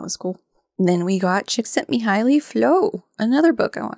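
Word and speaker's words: Csikszentmihalyi: him or something and got the mnemonic for how I pronounce it chick sent me highly so yay okay so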